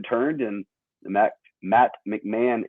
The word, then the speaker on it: McMahon: last name i said i said like mac mahone initially you're like and you said man i was like okay that's how you say it yeah i went